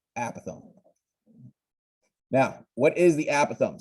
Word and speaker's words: apothem: apothem it's kind of it's spelled like apothem but again it said apothem now what is the